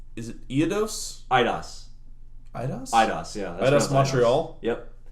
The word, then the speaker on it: Eidos: Eidos?